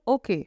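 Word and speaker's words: hockey: में हम बोलते हैं ओके where H will be silent और आइस को बोलते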